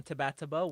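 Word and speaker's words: TBATB: week for tataba um that is the 100% proper pronunciation of the Brave and the boys as an anagram uh so you can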